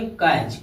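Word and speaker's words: catch: जैसे सी ए टी सी एच यानी इसको का पढ़ेंगे? कैच। कैच। टी को साइलेंट रखेंगे।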